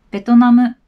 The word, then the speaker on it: ベトナム: 単語の説明ですベトナム日本語には b v と言います日本語で杭の音がないので b b と発音してベトナムと言います次の